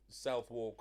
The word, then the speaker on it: Southwark: The thing is, it's weird with London because there's places with old pronunciations like Greenwich instead of Greenwick, Yeah, I used to say Greenwich. and Southwark Greenwich.